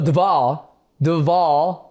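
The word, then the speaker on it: Dvalishvili: So, dwish the v is a w. D. Dwali. Yes. Dwave. Yeah. See in America when I see the the VV so Dval Dvali that's it.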